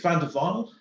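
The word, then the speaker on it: Van der Wiel: Is it Van der Veil or Van der Veil? I think it's Van der Veil.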